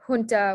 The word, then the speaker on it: junta: the ha sound uh junta where the j letter makes a ha sound again and then ahitanato where